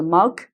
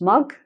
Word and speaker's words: mug: That sort of thing is a mug, pronounced mug. But in the Midlands, they say mug, a mug.